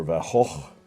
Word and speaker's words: van Gogh: the painting by Vincent van Gogh or about hull as you're supposed to say it properly and there is the